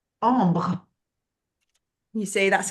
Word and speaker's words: Ambre: Okay, so Alex, of course, it is Kavina, how do you pronounce it correctly? Ambre.